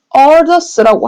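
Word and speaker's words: 鄂尔多斯: 그래서, 흉노의 팽창을 위협을 느꼈던 진시 황제가 이 오르도스 지역에 그들을 몰아내고 만리장성을 쌓았다고 하는데, 요 지도를 크게 한번 살펴보면요. 이 오르도스 지역, 여기입니다. 중국 발음 그대로 얘기를 하면, 얼더스라고 할 수 있겠는데, 여기에 보면 황허강 안쪽이에요.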